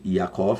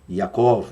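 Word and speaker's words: יעקב: nó nós temos aqui Jacó português do hebraico yacov I que pronuncia yacov fique a vontade yakov yacov não vai mudar nada na pronúncia Hebraica e o significado desse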